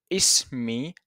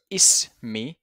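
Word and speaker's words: اسمي: So hello, my name is marhaban, ismi Ali. So ismi, as if we are saying is, followed by me. So we say ismi, and you pronounce it ismi, ismi Ali.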